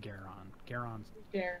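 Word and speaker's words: Gwaeron: There's a W in there, guys. But there's I'm sorry. Yeah, it's like G-W-A-E-R-O-N, but I think it's pronounced Garon.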